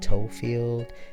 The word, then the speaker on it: Toefield: the image up above it's spelled just the way it sounds so like foot and feel like football field you know and then